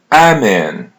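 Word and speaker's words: Amém: Amen. Amen. Almost the same pronunciation as in English. Amen. But you're going to pull their e a little bit. Amen. M is pronounced as n in English.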